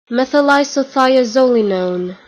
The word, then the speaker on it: methylisothiazolinone: ingredients, and I'm totally going to botch the pronunciation of this, even though I looked up how to say it, it is methylisothiazolinone. methylisothiazolinone.